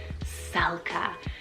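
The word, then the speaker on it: Celka: on the girls side we have selka c-e-l-k-a salka this is beautiful and it's a Latin rooted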